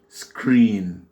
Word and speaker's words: screen: Et les deux voyelles là, le E-E, ça se prononce avec ce phonème I, c'est un I long. I, donc on dit screen.